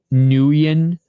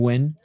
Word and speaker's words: Nguyen: It's like win. That's how you know I'm a casual MMA fan. When I pronounce Nguyen instead of win.